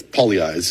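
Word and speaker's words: Pagliai's: eyes pizza but it's poly eyes is how we pronounce it because we have that Italian pronunciation and their pizzas the Palace Pizza poly eyes Pizza is where I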